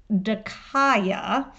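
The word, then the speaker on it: δίκαια: it let's define just if you look at the Greek it's pronounced de kya which is just this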